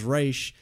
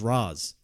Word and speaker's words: Ra's al Ghul: How do the people in Arrow say it as Raish and say it as Raz?